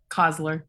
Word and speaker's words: Coslor: Coslor? Yeah, Coslor. You got it. Thanks. Coslor. How do you spell it?